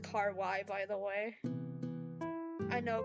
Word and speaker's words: kawaii: What the But I don't want you to be burned alive cuz that's not kawaii. It's It's pronounced car y by the way.